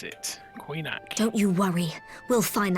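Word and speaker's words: Coinach: That's how you pronounce it. Coinac.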